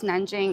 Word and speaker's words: Nanjing: Or it's Nanjing in Chinese, but it's pronounced Nanking in English.